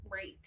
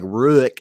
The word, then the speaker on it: Ruike: How is that Rake? It's just how it's pronounced. It's Rake. It looks like Ruik.